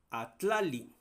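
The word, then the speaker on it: atlalli: Y luego tenemos esta otra palabra, atlali, así se va a pronunciar, escuchen, atla, tla. Seguramente alguien que no es hablante esa tla. En cambio, la a suena igual que el español y li también, pero tla no.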